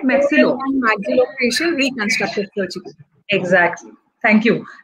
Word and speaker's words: maxillofacial: She has graduated from BVP Pune and has a diploma in oral and maxito. Is it right? Maxillo. Maxillofacial reconstructive surgery.